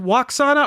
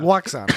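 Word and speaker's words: Lwaxana: is it pronounced Waxana or Loxana? Waxana. But there's an L in it, so it's like a Luoxana Troy.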